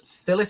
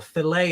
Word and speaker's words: Filet: he meets mr big that's fillet of soul or filet of soul however you want to pronounce it f-i-l-e-t filet of